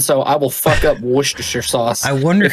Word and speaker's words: Worcestershire: The recipe for Worcestershire sauce, pronounced Worcestershire or share, dates back to the early 19th century when the British Lord Sanders acquired it during travels.